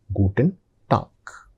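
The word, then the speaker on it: Guten Tag: So the pronunciation is gooden talk.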